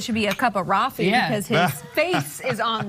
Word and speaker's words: Raffi: be a cup of Raffi because his face is on this mug. Raffi Coffee. Raffi Coffee. That's right. That's actually how I tell people to remember my name. It rhymes with coffee.